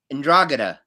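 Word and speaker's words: 'Ndrangheta: i don't know how to pronounce that it's pronounced there you go and glad say it again andragana there you go you know what they're very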